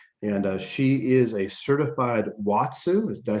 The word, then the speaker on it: watsu: well as reflexology and she is a certified watsu did i say that right watsu you did yeah all right practitioner and certified